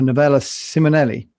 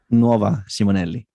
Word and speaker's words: Nuova Simonelli: yeah today we're going to talk about the novella siminelli did i say the right novella how do you say it max it's an italian it looks like company italian nova simonelli that's what i said isn't it not nearly